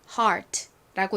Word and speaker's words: heart: 다음 단어는 바로이 단어입니다이 단어는 어떻게 읽나요 바로 heart라고 있습니다 heart 여기서 ear은 발음이 아니라 R 발음으로 쓰였죠 그래서 heart라고 발음해